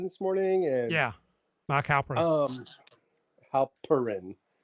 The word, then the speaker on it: Halperin: Halperin, not Pern, like I've been saying.